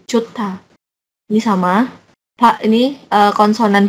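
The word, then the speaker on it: 좋다: Ini juga bacanya bukan johda gitu kan. Ini kan da. Ini joh, bukan johda gitu kan. Nah, ini tapi ini dia melebur ke sini jadi jota.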